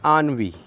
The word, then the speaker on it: ennui: Next friends आनवी, ENNUI आनवी, pronunciation पे ध्यान दें आनवी।